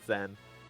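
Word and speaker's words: Tzen: i'm sure andrew rancho it's probably pronounced zen but t zen is way cooler they're a lot cooler i agree uh i always called it zen uh but i introduced this game to my kids not that long ago and they were like we're going to t zen and i was like no that's not how you pronounce it and now i've always pronounced it that way it just stuck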